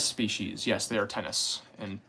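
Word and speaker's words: Ctenus: they're pretty far north remove arachnids are they tennis species yes they are tennis and it's c-t-e-n-u-s the sea is silent which is weird um Latin is weird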